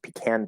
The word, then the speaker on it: pecan: or 13 i tried pecan pie also pronounced pecan pie because that word can be pronounced multiple ways but pecan i like